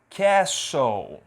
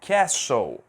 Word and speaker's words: castle: nós temos a palavra Castle que é a palavra Castelo ó eu tenho um ST e esse T fica mudo Castle e por último a